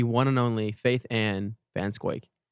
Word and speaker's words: Van Schaick: We have none other than the one and only Faith Anne Vansquake. Ansquake. No one pronounces your name right.